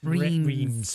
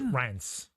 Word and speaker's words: Reims: And people think it's Reims, but it's not. It's Rance.